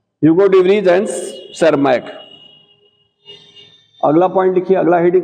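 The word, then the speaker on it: Tschermak: De Vries Hugo de Vries and सेरमैक, PSP silent है, PSERMACK, ठीक है, ह्यूगो डिवरीज एंड सेरमैक।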